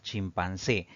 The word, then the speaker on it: chimpancé: Si dividimos en sílabas, pues tiene 3 sílabas. La mayor fuerza de voz recae en la última sílaba, contando de derecha a izquierda. Eso la convierte en una palabra aguda y va a llevar tilde porque termina en una vocal.